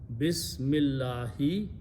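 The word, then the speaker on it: بسم الله: this right okay now when you read them together this alif sound will go away as a matter of fact in this very unique world we don't even write the alif okay so now pronounce is that this that's what we say all the time in the name of allah bismillahi in the name or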